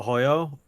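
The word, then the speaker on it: Arroyo: some a hoyo is spelled like a Royo he's Brazilian so the RS don't count um and yeah he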